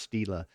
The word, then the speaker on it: stela: And you can go look up the scholarly definition yourself, but it's pronounced stela. Sometimes it's singular, and it doesn't have the E on the end of it.